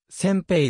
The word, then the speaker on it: 煎餅: れている歌詞漢字表記がせんべいだが読み方は尖兵が正式でパッケージにローマージュ